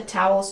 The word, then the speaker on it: towel: Pronunciation, tow. Ow, like cow and how. Towels. Ols. The second syllable has a dark L. Ol, with the tongue near the back of the mouth. Ol, like call and wall.